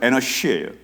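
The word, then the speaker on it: אנוש: 원래 발음은 에너시예요.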